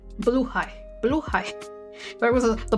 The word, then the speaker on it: Blåhaj: Blåhaj. Blue high. Blue high. There was the blaja. The blaja. Blaja. Blaja. What is it? Blåhaj.